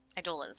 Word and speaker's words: Eidolons: Eidolons, that's how they say it.